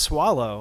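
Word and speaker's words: Soileau: North of Austin that name up there is pronounced swallow I know it doesn't look like that but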